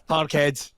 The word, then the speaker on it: Parkhead: be back playing at par red and it's parkhead it's says there it's parkhead I just I